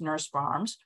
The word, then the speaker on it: Norse Farms: Having said all that, you can still go through mail order catalogs or companies like Johnny's or Norse Farms, or sometimes pronounced Nurse Farms, who carry horseradish.